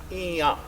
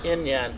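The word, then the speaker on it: Íŋyaŋ: So, Roch Nation is pronounced Iya, two nasal N's. I nasal N, Y-A nasal N. Not Inyan, but Iya.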